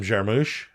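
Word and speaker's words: Jarmusch: But Jim Jarmoosh, I'm saying it wrong. But no, that that was right.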